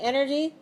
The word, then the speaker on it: energy: power right yeah okay how many syllables are in the word energy energy 3 what's it what's a friend what's a syllable stress code 3 1 3 1 so energy just on the first syllable 3 1 energy and